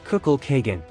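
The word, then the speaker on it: Kukulkan: by green and blue the pronunciation in the Maya language is kukul Kagan how did the belief in the god kukul Khan portrayed as a snake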